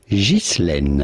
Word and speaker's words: Ghislaine: Now in French, this is normally pronounced Ghislaine.